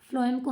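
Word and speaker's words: phloem: और फ्लोएम, फ्लोएम को हम, ये पी एच है ना, तो पी एच आप प्रोनाउंसिएशन इसकी करोगे, एफ लिखोगे ना फ्लोएम, और एफ से ही फूड हो गया फिर आपका वो, ठीक है बच्चे।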